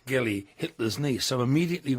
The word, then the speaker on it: Geli: Geli?